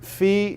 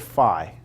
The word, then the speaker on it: phi: This omega, not omega, this, I've heard phi and I've heard phi, all right? I've heard it pronounced both ways, all right?